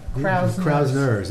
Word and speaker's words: Krausner's: Krausner's. Krausner's? With an N. As an N? Yeah. Krausner's. Not Krause's Candy. Krausner's, okay.